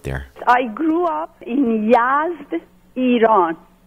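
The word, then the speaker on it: Yazd: like growing up there I grew up in YZ Iran it's spelled y a z d Yas in the is a southern city in Iran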